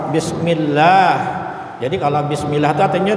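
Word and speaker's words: بسم الله: Jadi baca bismillah itu Allah itu dibaca tipis, panjangnya adalah 2 harakat bismillah.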